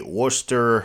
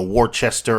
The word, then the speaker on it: Worcester: in a dugout at a worster i believe that's how you mass holes pronounced w-o-r-c-e-s-t-e-r everyone else would would say uh you know warchester or something like that but i think they call it worcester worcester at a uh worcester red